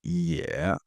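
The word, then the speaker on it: 也: This next character is pronounced Yeah.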